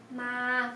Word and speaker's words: มา: Từ này ma đọc là ma, còn từ này pai đọc là bay, ma bay.